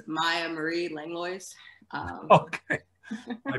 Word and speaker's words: Miah Marie Langlois: thanks paul uh so to pronounce my name it's maya marie langlois um okay i butchered